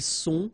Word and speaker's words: sont: Ils sont, final T not pronounced.